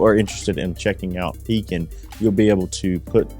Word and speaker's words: Pekin: been doing business with pekin insurance for several years not peaking not pecking as some of our customers often mispronounce it pekin insurance has a great